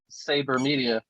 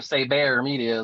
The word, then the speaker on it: Saber Media: alberta triana which is a saber media or say bear media is how you say it he's a really